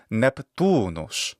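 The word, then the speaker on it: Neptunus: Neptune or Poseidon so in Latin Neptune is neptunos the atmology of this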